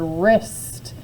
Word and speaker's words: wrist: our wrist in fact the word wrist has a silent W with it too when